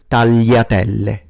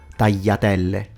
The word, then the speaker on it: tagliatelle: This occasionally happens towards the end of the word, but in general, the GL will be pronounced as a lie sound in standard and as a Y in southern accents. Let me give you examples. Tagliatelle, figlio, famiglia, maglia, gli,